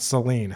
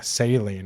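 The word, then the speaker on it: Céline: you say her name I think that's how you say her name sailing not Celine saline as in like the fluid that you're getting an IV goofy goofy stuff man but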